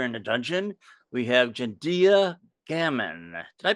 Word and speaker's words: Jendia Gammon: new guest here in the dungeon we have gendia gamon did I pronounce that right you did perfectly okay I